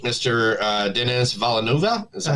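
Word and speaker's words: Denis Villeneuve: um the director of Dune 3 Mr uh Dennis valenova is that how you pronounce that correctly yeah I love that guy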